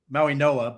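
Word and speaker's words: Mauigoa: That's why I'm a Mauagoa guy. I like the Miami kid. That's my poor man's Penny Sewell. Well, unless he's a guard. That's Mauagoa? Maui Noah, but yes, I know how it's spelled, but I know how it's pronounced.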